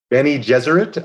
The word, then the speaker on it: Bene Gesserit: Bene Gesserit?